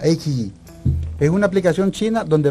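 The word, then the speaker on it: iQIYI: invito a que vean, bajen una aplicación que se llama Ikiji, así se escribe, Ikiji, I-Q-I-Y-I, Ikiji, se pronuncia Ikiji.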